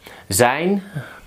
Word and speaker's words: zijn: Zijn, so the IJ is I.